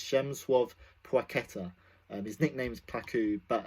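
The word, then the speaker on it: Przemysław Płacheta: But you pronounce it, I do believe, like this. If there are any Polish people, please let me know if I got it right. I do believe it is Przemyslaw Placheta.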